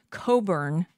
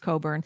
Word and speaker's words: Cockburn: Leslie Coburn, that's how you pronounce it. I know it's spelled Cockburn, but it's pronounced Coburn.